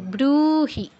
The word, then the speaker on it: ব্রূহি: এই বটা আছে কি বর্গীয় ব, তো বয়ের বাংলা বয়ের মতো উচ্চারণ হবে আর দীর্ঘ হবে, ব্রূহি পিতামহ।